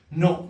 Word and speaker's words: non: n አለች የመጨረሻው n ግን n is silent የመጨረሻው ማለት ነው ሶ ልክ እንደ እንግሊዘኛው ነው የምናነበው ማለት ነው ኖ ነው የምንለው ግን ኤንን እንጽፋለን ልክ እንግሊዘኛ ኖ እንደሚመስል ማለት ነው ስለዚህ ክሊር ካልኩኝ